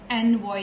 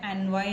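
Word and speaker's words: ennui: पहले कॉमन चीजें है वो बता देती हूं एन वई एक रुब्रिक होता है the spelling is E double एन यू I which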